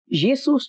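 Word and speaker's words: Ἰησοῦς: येसूस जो था that was the accent of academic people. सही, ठीक है। जब एकेडमिक लोगों का जो तलफ़्फ़ुज़ था, जो प्रोनाउंसिएशन थी इस लफ्ज के लिए, एसूस के लिए, जिसमें योटा, एटा, सिग्मा, ओमिक्रॉन, उपसिलॉन,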